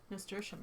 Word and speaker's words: Nasturtium: It's how do you pronounce that? Nasturtium? Nasturtium, yeah.